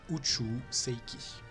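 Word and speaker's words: 宇宙世紀: en version internationale UC on le prononce en la à la japonaise uchu Seiki c'est la chronologie considérée comme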